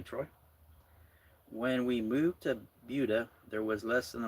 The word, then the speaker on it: Buda: And I think I'm saying it right. Buda. That's how they say it over there.